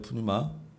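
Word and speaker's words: πνεῦμα: 푸뉴마. 뉴마입니다. 뉴마. 푸는 원래는 이제 묵음인데 그냥 우리가 써진 채로 그대로 읽으면 푸뉴마라고 하죠.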